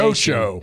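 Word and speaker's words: calcio: coucho is talking coucho and Italian is soccer. Spell that. C A L CIO. That's it. Yeah. I thought it was like couch o. No, no, that's the pronunciation. Koso.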